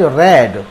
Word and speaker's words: read: 17th sentence is, इफ यू हैड रेड, यहाँ रीड है लेकिन हैड के साथ ही इसकी थर्ड फॉर्म आती है और थर्ड फॉर्म में स्पेलिंग यही रहती है और प्रोनाउंसिएशन चेंज हो जाता है, तो ये सेंटेंस हो जाएगा इफ यू हैड रेड, इसलिए मैंने इसको रेड पढ़ा।